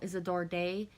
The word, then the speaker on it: Isadore Day: And I know Isadore Day is how it's pronounced in English, but it's hard to pronounce a French name in English, so Isadore Day.